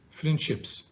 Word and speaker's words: friendships: here the s okay when it is uh located after a voiceless sound a voiceless consonant it is pronounced so you say friendships okay whereas here it is located after a voiced consonant so it is pronounced in the phoneme friends okay let's continue now